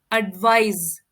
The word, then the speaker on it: advise: है second world है एडवाइस देखिए यहां पर साउंड ए रहा है जैसे हम रिलाइज को प्रोनाउंस करते हैं से तरीके से बोलेंगे एडवाइस और ये एक वर्ब